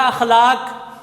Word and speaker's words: اخلاق: پڑھنا یہ آسان ہے، اور لفظ کا صحیح تلفظ ادا کرنا یہ تھوڑا مشکل ہے۔ تو لفظ کیا ہوتا ہے؟ اخلاق۔ کیا لفظ ہوتا ہے؟ اخلاق۔ الف کے اوپر کیا ہے؟ زبر۔ تو اخلاقی یا مذہبی